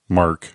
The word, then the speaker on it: MK: I think it's what's MK pronounced? Is it Mark 11? Mark 111, or do people say MK 111? Mark. I say Mark.